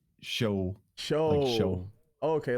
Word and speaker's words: Sjöö: say it's soo so it's it's hard for me to pronounce it in Swedish because that you can definitely not pronounce it then but yeah show show show okay like